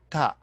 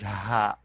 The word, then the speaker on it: ة: because it's already called ta so we pronounce it as da but uh when we are speaking but when we stop we pronounce it as ha okay as like see example